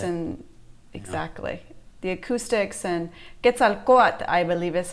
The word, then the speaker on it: Quetzalcoatl: Where at the temple, I think Kukulkan or where Quetzalcoatl, that little, when you're right there in front of El Castillo is what you're talking about.